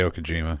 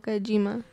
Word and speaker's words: Kojima: before me John today Okajima there you go how do could you know he is a very famous game maker over there Japan he descent twice I think he mispronounced it so Hideo Kojima Dale today Okajima a